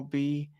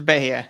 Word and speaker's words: Bayer: Jack and you will be Bayer although many people seem to pronounce it be but it was intended as beer oh good to know